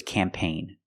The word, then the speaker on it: campaign: And this word is campaign. The G is silent because the GN is at the end.